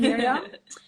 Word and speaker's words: Mirjam: I am Miriam. And for everyone who is wondering, it's spelled with a J. So everyone think it's MIRJAM or whatever they come up with. But yeah, it's Dutch spelling, I guess.